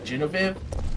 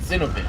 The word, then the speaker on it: Zinoviev: They also did like a translation gaff with Nikolai as well, because in this game, his last name is pronounced Genevieve, but the actual translation is Zinoviev.